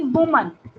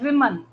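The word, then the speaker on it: women: ठीक है, अब ऐसे ही वुमन, वुमन के लिए हम क्या बोलते हैं, विमन। क्या बोलते हैं, विमन, वुमन, विमन।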